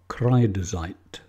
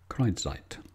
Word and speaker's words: Kreidezeit: The name of the oil is Kreidezeit. Now, I'm probably not pronouncing that correctly, but to spell it out, it's K-R-E-I-D-E-Z, or Z if you're an American, E-I-T, Kreidezeit.